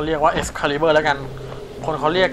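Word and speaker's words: Excalibur: เ อ่าน กัน จริง ๆ ก็ อ่าน ว่า xcaliber ก็ ไม่ รู้ ว่า ยัง ไง อ่ะ นะ ก็ เรียก ว่า ex caliber แล้ว กัน คน เขา เรียก กัน เรา ก็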